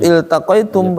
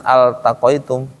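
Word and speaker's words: التقيتم: Iltaqoitum bacanya bukan altaqaitum kalau dia berdiri sendiri. Nah, ini bukan alif lam ya. Bukan alif lam qamariah. Kalau dibaca di awalnya iltaqo iltaqo ya dikasrahkan bukan difathahkan. Kalau alif lam kan harus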